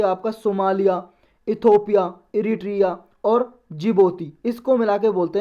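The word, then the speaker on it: Djibouti: Somalia Ethiopia Eritrea और जिबोती इसको मिलाकर बोलते हैं और ऑफ अफ्रीका यह डिश में साइलेंट है डीआईजी डी जे आई जो यूटीआई जिबोती बोलते हैं इसको तो जिबोती यह कंट्री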